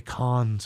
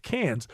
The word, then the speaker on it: Cannes: like people who say cons Film Festival know its Cannes it's properly pronounced can but people who are